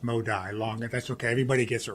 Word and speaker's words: Modi: I am Modi. It's pronounced Modi.